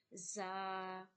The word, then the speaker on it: ز: So za, seen, both are whistle sound letter and both are pronounced from the same place. You have to touch your tongue to the middle of your teeth, upper and bottom teeth.